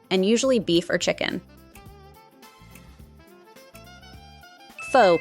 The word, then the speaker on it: Pho: Pho, pronounced "foo", it became popular in the early 20th century.